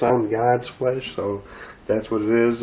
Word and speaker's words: God's Flesh: It's God's Flesh, just so you say it right, because I always forget the S on it.